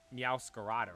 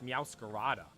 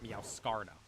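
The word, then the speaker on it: Meowscarada: I'm like oh yeah Meara not meow scarda there's an extra a back there a dude I kind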